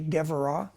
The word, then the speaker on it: Deborah: Um, Deborah or Devra in Hebrew, it's actually Devra.